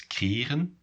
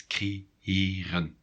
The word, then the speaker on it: creëren: You might think without the two dots, creëren, but no, it's creëren. You need to pause a little bit in between the two E's.